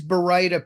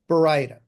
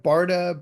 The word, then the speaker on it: baryta: So this these baryta papers are very popular. And yes, the correct pronunciation is baryta. And as you can see on top, I am collecting mispronunciations of the word baryta.